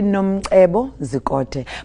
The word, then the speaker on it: Nomcebo Zikode: I cannot do the click. Okay, it's actually... Yeah, go ahead. It's actually Nomcebo Zikode.